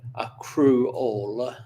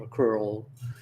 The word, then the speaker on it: accrual: So, uh, and I'll pronounce that AC crew all schemes, not acrew all, but what what those